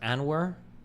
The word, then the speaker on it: Anwar: It's pronounced Anwar.